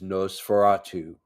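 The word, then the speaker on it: Nosferatu: This is the movie that he wrote and directed that is no furatu. Um that's how you pronounce it.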